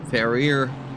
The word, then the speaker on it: Ferrier: Here, Tom Ferrier, we pronounced it in the French way, is, well, actually Belgian, interestingly enough.